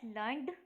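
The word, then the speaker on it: learned: ठीक है, we pronounce it एज लर्नड, लर्नड to rhyme with created, weighted.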